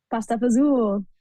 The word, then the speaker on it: pasta fagioli: Pasta pazul.